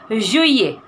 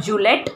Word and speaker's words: juillet: So juillet, say it. Juillet, double L we don't pronounce in French, it is like, so juillet, it's not Juliet, it's juillet.